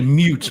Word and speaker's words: moot: he's preferring picture, so he made it a moot point and he removed all the sound. Yeah. Jesus. No, that's a mute point.